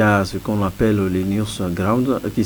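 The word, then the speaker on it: NewsGuard: Il y a ce qu'on appelle les news ground qui s'écrit N euh E W S G U A R D.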